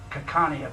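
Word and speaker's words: Xakanaxa: in a place name, it's represented by an X. So the place we would go would be XA, ANIA, which is pronounced Kakania because the X's were pronounced as a C.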